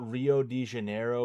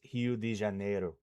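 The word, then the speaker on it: Rio de Janeiro: Rio at the we call we call it Rio di Janeiro, but it's it's Hio di Janeiro is how they pronounce it.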